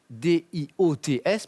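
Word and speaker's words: diots: Les Dio. Dio. C'est délicieux. Hein, elles sont rissolées dans du saindoux, mijotées avec des oignons et du vin, c'est très très bon. D-I-O-T-S, mais on prononce bien Dio.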